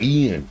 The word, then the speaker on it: Ian: like are you serious it's not ion Joe it's Ian nobody says ion I don't know how